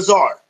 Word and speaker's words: tsar: keep that in mind the tsar z TZ AR the t is kind of silent giving the Czar Bazar is the Russian